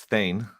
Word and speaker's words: Thayne: hear you pronounce it but it's thane thane that's what i said